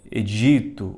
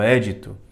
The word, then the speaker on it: édito: Rei e aqui é existe uma diferença né de pronúncia edito ou édito e essa palavra vem da língua grega e depo passou pro latim então em algumas traduções eh do século passado eh tinha um acento agudo no édit ficava édito agora